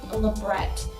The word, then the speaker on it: labret: Some piercers will put in a labret, or labre, however you want to pronounce it, stud, which is just a flat-backed stud.